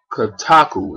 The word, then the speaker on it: Kotaku: This was revealed thanks to a retail poster for the game that was sent in to the good folks over at Kotaku. That's spelled K-O-T-A-K-U.